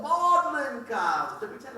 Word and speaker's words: Magdalen: in college excuse me model megalin College oh I think you guys pronounce it modlin oh modlin College I pretend like